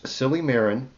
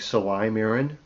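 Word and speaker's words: silymarin: Silly Marin. I'm sure that's pronounced more like Saly Marin.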